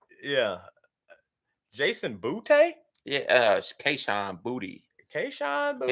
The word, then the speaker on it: Boutte: Yeah, Kayshon Boutte. Kayshon Boutte? He actually said his name is pronounced Booty.